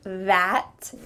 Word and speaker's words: that: Should you say that with a clear ah sound? Well, in daily conversation, we often change that vowel sound to be an E.